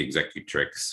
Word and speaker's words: executrix: you know for that the executive tricks which is which is how that's pronounced um we're gonna put